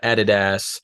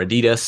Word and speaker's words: Adidas: Brands like Michelin and uh Adidas or Adidas as uh it's called in North America another another difference in